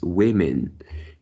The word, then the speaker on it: women: This one, when it is plural, it is pronounced as women, and you pronounce as woman. So what is the correct one? The correct one is women.